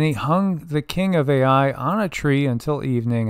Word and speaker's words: Ai: So Joshua burned this town called Ai, and it's spelled AI.